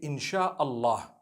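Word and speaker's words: إن شاء الله: Allah so in Allah and when you're saying it you say insh Allah okay so I'm writing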